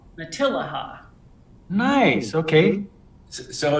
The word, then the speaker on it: Matilija: Oh, does it tell you how to pronounce it? Yeah, Matilija. Matilija. Matilija.